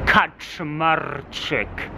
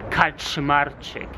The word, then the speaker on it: Kaczmarczyk: In case you see my long surname and you get confused, Kaczmarczyk. That's how you say it. Kaczmarczyk. You roll the R and it's 11 letters long.